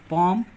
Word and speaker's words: palm: बाद अगर यम आए, जब यल के बाद यम आता है तो यल का उच्चारण नहीं होता है। जैसे पॉम, PALM, LM, पॉम, कॉम, कॉमन शांति, CALM, शांति, और बम, बम मर रहा हम, BALM।